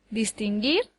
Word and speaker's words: distinguir: Por ejemplo, distinguir lleva el acento en la última sílaba. Dis, tin, gir. No puede llevarlo en ninguna de las otras dos porque daría lugar a palabras que no existen.